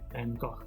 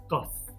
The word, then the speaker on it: Van Gogh: we say to Vincent van Gogh however America in Australia call him go as in go home or it's time to go interesting there is no